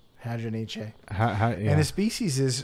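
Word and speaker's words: Hadronyche: I don't think Hadroniche. That sounds too French. Hadroniche. Yeah, I think you need to pronounce the E. Hadroniche.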